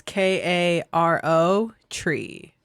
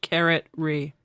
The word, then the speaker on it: Caro Tree: That's Karo tree. yeah. Nice. Which could also be pronounced carrot re. Both are fine. Or as Brian likes to say, Carol tree.